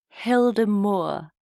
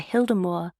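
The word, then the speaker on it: Hyldemoer: you're Danish forgive me I think it's pronounced Hilder Moore Hy l d m o e r and the hemore was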